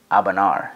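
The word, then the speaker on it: A'bunadh: to go to Arbalor's Abanar. Now, I know it doesn't look like it's pronounced that way from the spelling, but that's what they tell us, so I'm going to go with it.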